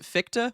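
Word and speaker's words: Fichte: How do you pronounce that guy's name anyway? Is it Ficta or just Fict? Let's Google this. It is Ficta. Victa. All right. I shouldn't have doubted myself.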